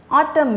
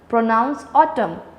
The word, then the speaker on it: autumn: silent letter in autumn artem a silent autumn the last n is not pronounced so n is silent rain island has me